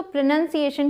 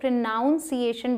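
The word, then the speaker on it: pronunciation: होते हैं शब्द तो प्रनंसीएशन की बात कर लेते हैं इसे बहुत सारे लोग प्रोनॉन्सिएशन बोलते हैं क्योंकि हम प्रोनाउंस करना बोलते हैं लेकिन ध्यान दें यहां पर पी आर ओ एन ओ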